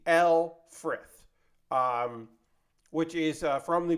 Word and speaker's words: Lfrith: then we'll work on the Alfred that's right that's the pronunciation I'm going with I'm going with a basically what the dub says instead of the Luth which I've been calling it The L frith um which is from